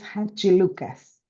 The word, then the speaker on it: Hadjilucas: name because for me it's really hard to spell it please okay so it's ha Lucas a Lucas so thanks for for this because